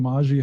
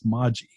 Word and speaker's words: Maji: to donate directly to maji hope i keep saying it wrong don't i it's moji moji okay i'm sorry i